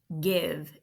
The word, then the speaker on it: give: vowel consonant e exception because the i is short and put a brief above it and then cross off that silent e it's only there because a word can't end with v all right nice work